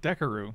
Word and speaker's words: Dekkaru: You pronounced it right the first time. What did I say the first time? Dekkaru.